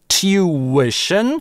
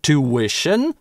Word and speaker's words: tuition: Это слово можно произносить как tuition, классический RP вариант. Некоторые британцы и практически все американцы говорят two-ition, без [j]. А можно его произносить как Geoff Lindsey рекомендует с «ch» в начале chew-ition, с палатализацией chew-ition.